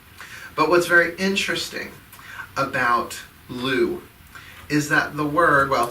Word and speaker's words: Lugh: It is the festival of the Celtic god Lugh, L-U-G-H, a sun god.